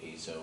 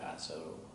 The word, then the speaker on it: azo: particular family of compounds called azo or azo. I've heard it pronounced both ways, but it's a synthetic organic compound, and most of them are byproducts of mining.